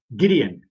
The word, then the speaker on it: Gideon: I'm sorry, Gideon.